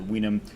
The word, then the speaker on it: vinum: Vinum obviously is vinum, but until the Greeks got involved, the Romans had no pronunciation of a V. So any V you see in Latin is a W sound. So vinum, that's where we get the word vinus, wine, from.